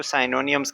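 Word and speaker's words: synonyms: क्या करते हैं that allows you to find सिनोनिम्स या कुछ लोग इसको साइनोनियम्स कहते हैं। अब आपके प्रोनाउंसिएशन के ऊपर डिपेंड है।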